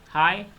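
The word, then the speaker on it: high: Wrong, W silent है, नाइट H silent है, हाई G silent है, डाउट B साइलेंट होगा, कुड L साइलेंट होगा, वाक L साइलेंट होगा।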